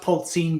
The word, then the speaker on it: Polzin: Well, you pronounce it Polzin, but everyone says Polzin, so it's fine.